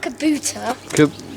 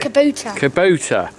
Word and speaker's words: Kubota: three two one boom kabutar what is it not Kabuto what is it Kubota I can't even pronounce